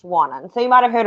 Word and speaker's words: Wannon: about it it's spelt wannan but it is pronounced wannan so you might have heard of warren falls